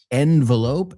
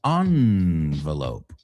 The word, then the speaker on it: envelope: Now, hay dos pronunciaciones que se aceptan, envelope and envelope. O sea, whatever floats your boat, la que te salga más fácil.